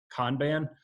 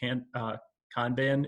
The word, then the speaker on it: Kanban: if people are familiar with, I believe it's pronounced Kanban. It's a work style. It's an interesting, if you can check out the website, I believe it's personal Kanban.